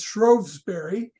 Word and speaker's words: Shrewsbury: it's uh in Shrewsbury again the funny British pronunciation this is Shrewsbury the mount it's still there Darwin was born on on uh February 9th uh February 12 1809.